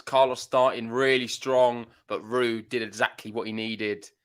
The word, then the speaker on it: Ruud: you say my name it's not Roose it's rude tonight sain come on